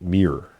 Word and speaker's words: Miron: Uh miran as is spelled m I r o n is pronounced mirror like the uh like one of the things they gave Jesus.